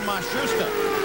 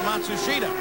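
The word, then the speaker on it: Matsushita: in the Pensky cars they've changed the pronunciation again they've given it to us four or five different ways now it seems that they have settled on masusa they started the year with matsua but he is the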